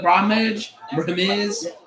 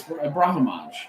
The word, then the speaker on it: Brahimaj: They keep saying it like Brahimaj, like, dude, it's Brahimaj.